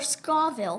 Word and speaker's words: Scoville: our signature nine Millions Scoville or Scoville you said it right oh yay unit